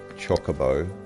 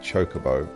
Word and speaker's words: Chocobo: help you out so always a debate over the pronunciation of Chocobo as I grew up saying or chocoo which I often mistakingly say but I think chocoo is definitely a American thing because uh 16 was all British actors and they all said Chocobo which is quite interesting